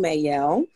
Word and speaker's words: Mael: We are joined by the amazing Mael. So if you see his name, that is how you pronounce it.